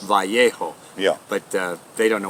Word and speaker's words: Vallejo: Basil the Great Elementary School in my hometown of Vallejo, California. But I finally know, moving here, I know it's actually pronounced Vallejo.